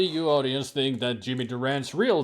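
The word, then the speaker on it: Durante: feeling fabulous yeah but it's not even Durango it is Durant yeah Jimmy Durant with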